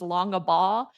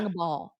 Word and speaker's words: Longabaugh: My last name is Longabaugh, and no one can say it right. They're like Longabaug, Longabag. I'm like, it's like a ball, Yeah. Longaball. Yep.